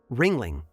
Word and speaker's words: Ringling: Germanic version into English a u with an uml replaced with an i but the pronunciation stayed the same Ringling that's right together these